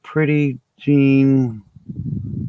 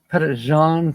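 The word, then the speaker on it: Petit Jean: up there in Arkansas pretty Jean I think you're talking about Pettit um it's not pronounced the way you wrote it it's uh it's a French spelling but it's a Native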